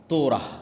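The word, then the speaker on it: תורה: মুসা আলাইহিস সালাতু ওয়াসসালামের কওমকে যখন তাওরাত দেওয়া হলো, তোরাহ বলে ইহুদিরা, উচ্চারণ করে যে তোরাহ, যখন তাওরাত দেওয়া হলো,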